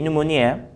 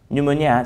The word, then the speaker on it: pneumonia: Now, 48, pneumonia. Pneumonia, so the P is silent, the letter N is actually sounded, pneumonia.